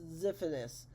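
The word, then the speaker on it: Xiphias: well we found one Zee Fitness Gladius pronounced zephanus this is the scientific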